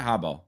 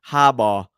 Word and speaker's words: Harbaugh: I saying it right Hab yeah yeah as as yeah I mean you're you're saying Hab which like in Australian is Hara yeah yeah so it's